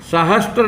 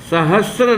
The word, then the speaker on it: सहस्र: ये शब्द सहस्त्र नहीं है, सहस्र नाम का शब्द शुद्ध होता है। स में र, सहस्र।